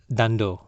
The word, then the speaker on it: Dhandho: one explanation one word Dhandho. I don't know am i pronouncing it right then it is pronounced as dhan - doe is a gujarati word